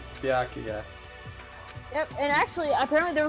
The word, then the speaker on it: Byakuya: Doesn't know how to say his name is Bakia. But I even I get it. It's Bakya. That's how you say his name. Byakuya.